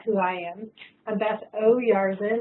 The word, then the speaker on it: Oyarzun: I'm Beth Oyarzun. It's easier if you put a little apostrophe in your mind after the O to pronounce, so then it sounds just like it's spelled.